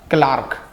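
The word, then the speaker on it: clerk: देखो इसका सही प्रोनाउंस है होता है क्लार्क, क्योंकि सेकंड ग्रेड में आपको पढ़ाऊंगा फोनेटिक्स में, तो वहां आप मिस्टेक कर देंगे।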